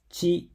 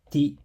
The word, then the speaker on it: ち: Chi and to have 2 strokes each, and tsu and te 1 stroke each. And yes, these two are pronounced chi and tsu, not ti and tu.